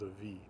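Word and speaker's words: af: Mostly F is going to be pronounced as a V.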